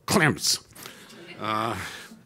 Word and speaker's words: Clements: since Reconstruction, Bill Clements, although in Texas it's pronounced with one syllable, Clemps.